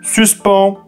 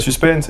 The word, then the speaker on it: suspens: Eh bien, ça peut sembler paradoxal, mais c'est le second mot qu'il faut utiliser, mais prononcé à la française, et donc écrit sans le E. Sinon, ça ferait suspense, et ça, bien que